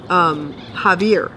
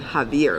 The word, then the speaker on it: Xavier: Javier, and it's spelled with an X, not with a J. Not with a J like the Mexican version is like the South American version. Javier, like the Brazilian version of it.